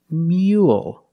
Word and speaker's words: mule: pattern u l e the first word is Rule but the second word is not Mo it's mule so it's a little different